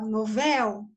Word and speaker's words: novel: Então, a sílaba tônica está no véu. Ó, novel, certo? Novel. Então, ela é uma oxítona.